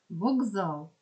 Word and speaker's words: вокзал: з с г т вокзал пишемо букву к а чуємо звук Ґ просьба звук з бо